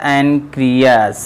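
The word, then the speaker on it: pancreas: अग्न्याशय कहने का मतलब क्या होता है बच्चों, जिसको हम कहते हैं अगर इंग्लिश में बोलें तो आपका पी साइलेंट होता है, ऐसे होता है एनक्रियास से स्त्रवित होता है।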